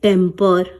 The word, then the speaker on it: temper: लिए हम कहते हैं टेम्पर। ठीक है, दोनों का प्रोनाउंसिएशन बिल्कुल सेम है, लेकिन यहाँ पर ए